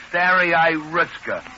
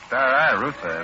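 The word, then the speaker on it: Staraya Russa: Oh, Russia, if they only had names you could pronounce. Smolensk, Bryansk, Minsk, Pinsk, Stary Ruska, Novgorod. Novgorod, not Novgorod. It's Stary Russa, isn't it?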